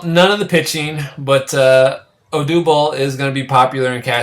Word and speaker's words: Odubel: Odubel. Yeah, Odubel. Odubel.